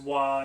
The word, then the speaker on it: Roy: So I'm fairly sure this one's pronounced Mousquetaires du Roy, because Roy is pronounced Wa in French, and Mousquetaire...